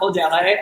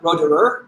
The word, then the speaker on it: Roederer: which, by the way, it's not Roederer. I always thought it was, as someone who speaks French, and I was heartbroken to be told it's Roederer, really much more so you can pronounce the R.